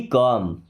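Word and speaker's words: calm: Okay B कम बी मी्स होना। काम का मतलब समझिए यहां पे एल साइलेंट।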